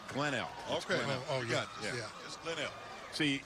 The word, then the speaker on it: Glenelg: to do that so glenn l on offense second and 12. we have been we've been told that the g is silent that's what i just showed you to read glenn l okay oh yeah yeah